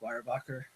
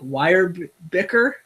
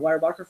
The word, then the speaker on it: Weyerbacher: I had a job interview with Weyerbacher. W.E. Yerbacher. Yes. Yeah. Or I believe my GPS pronounced it. I think Weyerbicker or Weyerbicher.